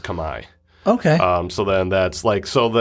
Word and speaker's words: Khmer: was called Kamai yeah Cambodian called Kamai yeah like K like Comm like khm is pronounced Kamai okay um so then